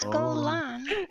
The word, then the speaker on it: Golan: Pronounced Golan. Everyone's like, with yeah. With emphasis on the second syllable.